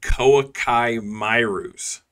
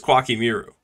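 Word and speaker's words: Koa'ki Meiru: He just said Koakai Mairus. I'm pretty sure it's Kwaki Miru, right? Like, am I crazy? I need you guys to tell me. Because if that's the case, then yet again, another card I've been pronouncing wrong my entire life.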